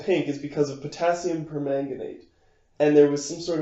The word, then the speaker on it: permanganate: I'm sure some sort of numpty would have read that as pomegranate, which I am not. It sounded like you pronounced it pomegranate. I'm a little nasally, but permanganate.